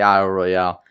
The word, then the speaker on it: Isle Royale: It's definitely Isle Royale. It's Could got to be be Isle Royale. It's spelled with an E at the end.